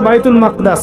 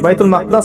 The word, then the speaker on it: বাইতুল মাকদিস: এবার এই বোরাক চলে গেল বাইতুল মাকদাস। এটা কোথায়? বাইতুল মাকদাদিস। সরি বাইতুল মাকদাস না বাইতুল মাকদিস। বিভিন্ন মানুষ বিভিন্ন উচ্চারণ করে।